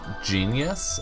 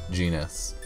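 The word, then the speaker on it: Genis: Oh also I noticed in the Japanese voiceover he's his name is pronounced genius and not genus Colette is the sweetest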